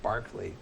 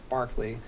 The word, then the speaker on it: Berkeley: spelled Berkshire so anyways when you talk about the philosopher it's Barkley when you're talking about